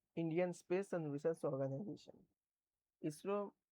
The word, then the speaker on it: ISRO: ISRO is also pronounced as a word ISRO not.